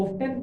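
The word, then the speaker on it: often: फिलहाल हाउ ऑफन बोलते हैं ज्यादातर लोग। ऑफ 10 जो लोग बोलना चाहे बोले क्योंकि स्पेलिंग तो ऑफ 10 से ही याद हो रही है।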